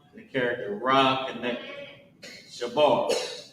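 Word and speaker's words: שבר: So, Sha character Ba and the character Ra connect Shabar. Right. What's going on with my handwriting today? Shabar. And how you pronounce it is sha and then b a r o shab.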